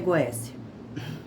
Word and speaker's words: Goétia: A pronúncia correta é Goéssia.